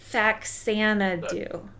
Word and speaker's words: Faxanadu: episode was fanu did I say it right faxanadu yeah close enough okay close enough yeah fax